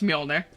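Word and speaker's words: Mjölnir: No, I I know it's Molner. Like, joking aside, I I know it's Mjolnner.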